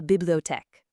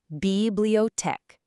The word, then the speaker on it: bibliothèque: In the story, Sophie says, L'après-midi, je vais à la bibliothèque. In the afternoon, I go to the library. Let's practice pronouncing this giant word together. I'll break it down for you. bibliothèque.